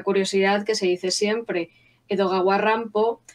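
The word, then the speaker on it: 江戸川乱歩: que se dice siempre edoga warrampo es la pronunciación en japonés del nombre Edgar Allan Poe estoy segura de que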